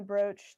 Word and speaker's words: brooch: Okay, so is it because the cloak and the brooch take up the same slot, so that's why I can't have That's them right.